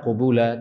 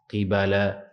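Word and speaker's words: قِبَلًا: dari berbagai macam arah qiraat lain mengatakan iibala qofnya itu kasrah bnya fathah ini qiraah yang lain mereka membacanyaumulabu iibala bukan qubula tapi Q qibala qibala artinya ayan dan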